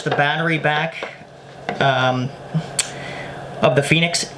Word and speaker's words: Fenix: battery back of the phoenix now phoenix is about f-e-n-i-x it's not uh your normal phoenix like the bird spelled with a p so this is the